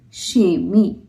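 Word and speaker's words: kemi: Because it's a soft vowel and when we are using soft vowel with k then it sounds like sha.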